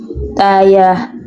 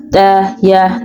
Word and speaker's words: ɗaya: has curve, which is daya, daya, the right pronunciation. Well, for the spelling of four, we use the D that has curve, hudu, hudu, which is the right pronunciation.